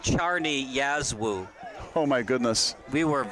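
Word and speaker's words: Czarni Jasło: penalty kick recruit leagues the team name it's pronounced Charney Yazoo oh my goodness we were way off base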